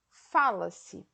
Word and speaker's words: fala-se: Então, o tempo desse verbo é o passado, a sílaba tônica é o lá e a pronúncia é diferente. Fala-se e falasse.